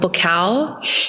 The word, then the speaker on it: Buakaw: I would watch this Muay Thai fighter when I was fighting Muay Thai called Bukal. He is this huge Thai fighter. It's spelled Buakaw.